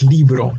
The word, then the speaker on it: libro: wrong it's leave wrong meaning that it ends it ends in a vowel so it has its emphasis on the second-to-last syllable so this first column